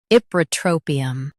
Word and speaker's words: Ipratropium: Ip. Ra. Tro. Pi. Um. Ipratropium. Stress tro and keep pi light. Ip. Ra. Tro. Pi. Um. Ipratropium. Stress tro and keep pi light.